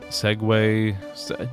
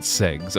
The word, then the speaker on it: segue: sound from this segue I thought it would be say well s but no no one pronounces it say and it's not segs unfortunately maybe just ways it's not just ways segue segue segue segue segue segue like ways what f i I